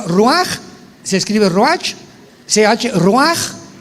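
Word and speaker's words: רוח: Por eso el Espíritu Santo se pronuncia roaj, se escribe roach, ch.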